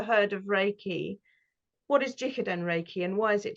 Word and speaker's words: Jikiden: shop, and that's when you discovered how's it pronounced, Jikiden? Jikiden, yes.